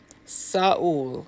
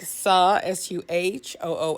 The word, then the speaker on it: Seoul: Saul. Saul. Soul. Okay. I think that's it. It's like Suhool.